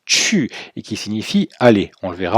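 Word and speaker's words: 去: Alors la partie droite, terre plus privé, signifie, c'est un caractère à part entière qui se prononce chu, et qui signifie aller.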